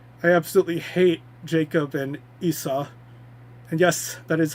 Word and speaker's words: Esau: I absolutely hate Jacob and Esau. And yes, that is how it's pronounced, Esau. I always thought it was Esau or something, but I guess it's Esau, even though it's E-S-A-U.